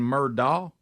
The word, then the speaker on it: Murdaugh: Do you think they're saying Murdaugh? Murdaugh. No, they're added. Because it's D-A-U-G-H. That's not Murdock.